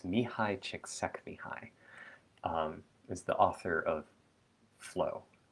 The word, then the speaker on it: Csikszentmihalyi: This is a little bit like there's a Mihai Csikszentmihalyi I learned how to pronounce his name from knowing some people who are from the country he's from or from the region he's from.